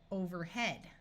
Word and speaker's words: overhead: EA usually says E, but in this word we'll have a short E sound. Overhead.